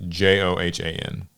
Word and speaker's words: Johan: the requirement would anger fans how do you spell that name um p i l the first name uh j o h a n Johan Johan yo okay I Joan okay yeah you know it wouldn't be Joanne